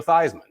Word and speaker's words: Theismann: His name really is Theismann, not Theismann. Okay. Okay. He went to Notre Dame, had a chance to win the Heisman Trophy. So he changed his name from Theismann to Theismann to rhyme with Heisman.